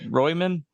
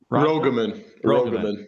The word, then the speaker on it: Rogaman: Royman? Rogaman.